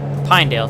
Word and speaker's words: Pinedale: at pendle all right how do you say pna i feel like i'm saying it wrong i do pinedale thank you pinedale pinedale winsfield so in